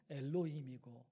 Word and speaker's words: 엘로힘: 내용으로 설교를 할 것입니다 화면을 통해서 여러분 보신 글자가 히브리어로 발음하면 엘로힘이라고 합니다 엘로이 가지고 있는 중요한